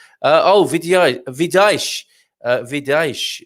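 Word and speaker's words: Vidais: oh video vidash uh vidaesh is how i pronounce it anyway it's v-i-d-a-i-s uh the town up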